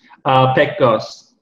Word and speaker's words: Pekgoz: Pekgoz.